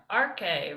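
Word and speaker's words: ἀρχή: There's that P looking Ar- letter. This is arche. R, arche, right? Arche.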